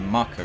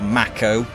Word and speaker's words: Mako: For context, Mako is the world's blood, and yes, it's pronounced Mako, not Mako or Mako. Get it right.